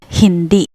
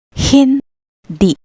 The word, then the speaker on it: hindi: Next, we have the word hindi. The H is at the beginning. Hindi.